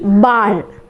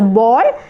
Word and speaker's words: Ball: B wie Ball. In English we say it as ball, but in German we say it as Ball.